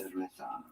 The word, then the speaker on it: cerveza: Cerveza.